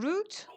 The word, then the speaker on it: route: Shirin, route or route, but not road.